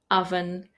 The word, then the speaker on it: oven: For example, words like come, done, some, money, honey, mother, brother, oven, these are all pronounced with the sound A, not the O that you see in the writing.